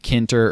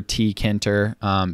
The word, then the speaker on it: Tkinter: built in with python is called kinter or t kenter because it's spelled this way it's t k i n t e r it is super easy